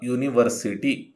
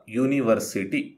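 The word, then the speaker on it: university: ಸಹಾಯ ಮಾಡುತ್ತದೆ ಅಂದ್ರೆ ಇಲ್ಲಿ ಕೆಲವೊಮ್ಮೆ ವೊವೆಲ್ ನಿಂದ ಪದ ಆರಂಭವಾಗಿದ್ದರೂ ಉಚ್ಚಾರದಲ್ಲಿ ಕಾನ್ಸನೆಂಟ್ನ ಧ್ವನಿ ಕೇಳಿ ಬರುತ್ತದೆ ಉದಾಹರಣೆಗೆ ಒಂದು ವಿಶ್ವವಿದ್ಯಾನಿಲಯ ಇದನ್ನು ಇಂಗ್ಲಿಷ್ನಲ್ಲಿ ಅ ಯುನಿವರ್ಸಿಟಿ ಅಂತ ಹೇಳ್ತೇವೆ ಅ ಯುನಿವರ್ಸಿಟಿ ಈಗ ನಿಯಮದ ಪ್ರಕಾರ ಅಂದ್ರೆ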